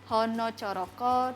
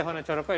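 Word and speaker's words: ꦲꦤꦕꦫꦏ: You can pronounce it so because in So. Javanese like hono coroko, doto sawolo, podo joyonyo, moko potongo. It's like that. So you pronounce it. you pronounce A with sort of like O.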